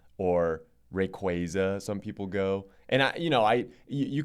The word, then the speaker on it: Rayquaza: How do you say Rayquaza or Rayquaza? I say Rayquaza. Rayquaza is the more popular one. Yeah. But I know some people who say Rayquaza because it's based on a quasar, right?